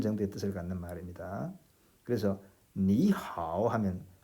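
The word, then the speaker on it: 你好: 선생님이 지금 발음을 그렇게 했습니다. 니 하오. 여기서도 님은 하오 하지 않고 님은 이 니라는 삼성을 니 하고 제대로 발음하지 않고 그냥 가볍게 니 정도로만 한 것을 이렇게 듣는 그런 좋은 귀를 가진 사람이 있으면 좋겠습니다.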